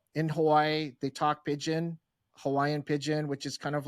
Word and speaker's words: Pidgin: Hawaii they talk Hawaiian Pidgin, which is kind of like it's like broken English, right? Pigeon, like the bird.